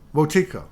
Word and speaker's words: Wetikó: Is it Wotifka or how do you pronounce that? Wetikó or Watiko? Wotiko.